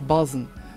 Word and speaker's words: بازن: أمازيغ الشمال في نفوس نقوله تفسارين أو إفسار، أي النشر، وتصنع من قماش نوعا ما اسمه، يعني قماش نوعا ما معروف اسمه بازان وينطق بازن.